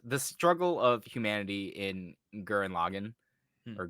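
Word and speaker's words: Gurren Lagann: think it's just the struggle of humanity in Gurren Logan or guren lagon if you're a weirdo and care about how it's actually supposed to be pronounced topa tengen guren lagon no one ever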